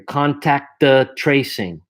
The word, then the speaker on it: contact tracing: Contact tracing, and it's contact tracing. I pull the second T back. Contact tracing. I'm almost not pronouncing it.